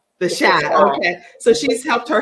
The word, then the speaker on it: The Chi: recurring guest roles on, is it the Chi or the Cha? How do you say that? The Cha. Okay, the Cha. The Shy. The Shy.